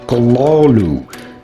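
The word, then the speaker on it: Cthulhu: O to be pronounced Kalalu.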